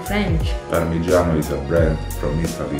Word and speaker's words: Parmigiano: Parmigiano. Parmigiano. You know cheese that we always say parmesan? Bruh. It's parmigiano. Parmigiano. But in English maybe it's right, parmesan. But it sounds like French. Parmigiano is a brand from